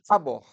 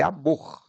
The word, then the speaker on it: amor: Você não fala amor, é amor. A última sílaba é a sílaba tônica, mas ela não tem acento.